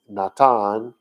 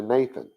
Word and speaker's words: Natan: was supposed to know you still pronounced it with the t sound not the th sound but that got lost over time and natan slurred to nathan right it's why you